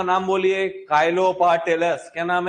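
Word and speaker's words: Chilo: Kylo पार्टिलस। क्या नाम है? चिलोपाटिलस लिखा होगा उसके अंदर। काफी सारे लोग चिलो बोलते हैं। लेकिन अपन प्रोनाउंसिएट कालो से ही करते हैं उसको। भले ही चिलो लिखा हो।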